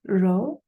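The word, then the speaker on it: rho: the lowercase Greek letter row and again pronounce row here we have different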